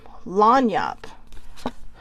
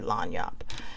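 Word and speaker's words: lagniappe: about this card is how to say it or lanyap but I I say lanyop a gift a gift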